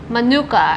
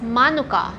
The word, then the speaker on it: Manuka: And they actually call this as Manuka, not Manuka. Manuka is like the American way to pronounce it.